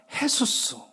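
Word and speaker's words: Jesús: 그리고 스페인어, 이 서반어 쪽으로 얘기하면 헤수스. J가 H 발음 나서 헤수스라고 합니다.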